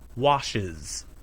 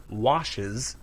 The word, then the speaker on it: Washes: Wash is one syllable. Washes is two syllables. Wash. Washes.